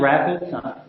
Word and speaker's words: RAPD: automated process data uh most of the time it's pronounced rapid you know pronounce it